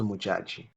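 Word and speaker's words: Modjadji: Did you say her name was Mujag? Mujag. Mujaji. Muj- MOD. Yeah, Mujaji. Mujaji.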